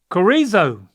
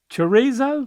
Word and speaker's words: chorizo: right okay all right Carrizo oh okay uh oh chorizo there you go okay I like Carrizo